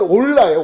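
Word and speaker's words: עֹלָה: 번제는 올라예요. 원어로 올라라고 읽는데 그것은 무슨 뜻이 있냐면 올라가다라는 뜻이 있어요.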